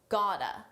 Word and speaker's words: got to: Here, notice we have the same gota reduction. got to gota.